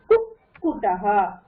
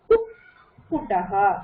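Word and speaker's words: कुक्कुटः: That poo you can keep it separately, but then after you pronounce poo, you're getting sound of two curls from your throat. Kukutaha. Kukutaha. Kukutaha.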